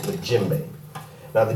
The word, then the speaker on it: djembe: to you a lot about it's called play jimbe now the djembe is spelled d je e MV this drum is